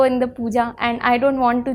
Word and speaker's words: Pooja: Okay, a simple answer would be that double O sounds more like puja. You would be like puja. Puja, है ना? Yes, sir. I mean, it's closer to the Hindi pronunciation of puja.